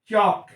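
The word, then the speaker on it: chalk: बता रहा उसको देखिए चक सी ए एल के चक ठीक है अब देखि य पर ए को मैं छोड़ के इसका प्र कर रहा ह चक सही प्र या सी के अगर हम एल लेते हैं तो बोलते चाल के चाल के गलत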